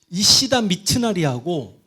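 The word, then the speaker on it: 石田三成: 그 토요토미 히데요리를 받들어 모시는 일본인들 발음 정말 이치다 미치나리 이시다 뭐 어떻게 읽어도 되니까 그 토요토미 히데요시를 받드는 이시다 이거 발음이 안 된다. 조교 선생님 어떻게 돼 발음이? 이시다 미츠나리하고 에도 막부를 훗날 만들게 되는 아까 내가 이야기 있잖아.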